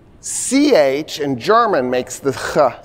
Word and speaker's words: chi: So in Greek, the letter X, it's spelled, we usually spell C-H-I, most Americans call it chi, is the letter chi, and it's the sound that you put in the word drachma, right?